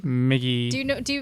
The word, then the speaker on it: Miki: why is it like like why is it like Mi GGI migy that's not my name Mickey do you know do